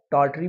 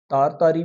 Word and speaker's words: Tartary: जिसका नाम है तारी इसको टाटरी भी बोलते हैं तारतारी भी और तारतारी भी तीनों एंगल से प्रोनाउंस किया जाता है अब वाल्टर डीला